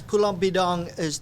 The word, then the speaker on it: Pulau Bidong: And as far as yourself, have you traveled back to Pulau Badong? Am I saying it correctly? Yes, Pulau Bidong I've never had a chance.